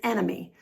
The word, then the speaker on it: enemy: The first four words all have the stress or emphasis on the first syllable. The first word is enemy.